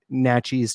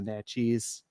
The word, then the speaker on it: Natchitoches: like Pine Forest Lane or you know uh Naches Trail right so we have a lot of Native American names place names so I saw that there's a Naches yeah yeah uh out here as well and